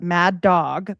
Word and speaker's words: Madog: So Maddo was um like here they either spell it mad dog but it's like sounds like Maddo was according to folklore